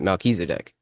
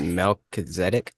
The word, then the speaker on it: Melchizedek: I pronounce it Melchizedek. You said Melchizedek? Yeah, that's how I've heard that too. That's how the minister that ordained me, Hmm. that's how he pronounced it. But I've also heard that too. I've heard both. Tomato, tomato.